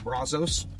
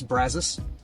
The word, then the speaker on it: Brazos: College Station and again I know if we were speaking Spanish it would be Brazos but we're not we're speaking Texans so it's brazas and then this area